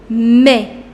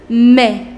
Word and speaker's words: mais: Mais. You do not pronounce this S. This is mais.